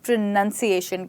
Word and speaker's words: pronunciation: इस वर्ड को हम प्रोनंसिएशन कहते हैं यह वाला यहां पे नाउन है और यह है नन तो याद रखिए एन यू एन हो गया नन और एन ओ यू एन हो गया नाउन जिसे हम संज्ञा भी